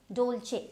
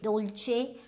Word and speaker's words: Dolce: So this is Dolce. Dolce. Now there is no H, but it is pronounced as Dolce.